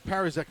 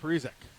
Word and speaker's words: Parizek: Faso at the point, so I've been saying it wrong. It's Parizek, not Parizek.